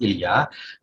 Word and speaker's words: Ilya: ilya knishnik uh yesterday russian pronunciation is ilya i'm based in philadelphia